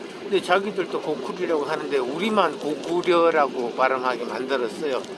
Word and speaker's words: 고구려: 고구려 연구 발표할 때 고구려는 일제시대 때 고구려라고 했지, 그전에는 원 발음은 고구리라고 합니다. 고구리. 근데 일본에서도 사실은 고쿠리라고 하거든요. 근데 자기들도 고쿠리라고 하는데 우리만 고구려라고 발음하게 만들었어요.